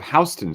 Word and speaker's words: Houston: it in New York we also have hon Street which is spelled exactly the same way as Houston in Texas the city and is named